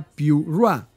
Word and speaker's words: Pura: video oficial publicado por Huawei pura se pronuncia p ra y no tiene caracteres